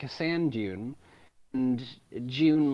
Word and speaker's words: Dune: no, it's just bizarre that you British people are always like June, and I'm like, no, it's Dune, Dune in your throat, Dune.